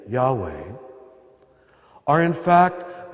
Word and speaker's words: Yahweh: of the sacred name Yahweh are in fact the only consonants that if correctly pronounced do not allow you to use your tongue or close your lips in fact we know